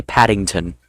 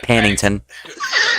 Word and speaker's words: Paddington: It's it's actually it's actually Paddington, not Pannington.